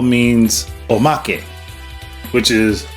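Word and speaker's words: omake: lot of people are inferring that o means Omak which is o m a k e I hope I pronounced it correctly I know Japanese phonetics generally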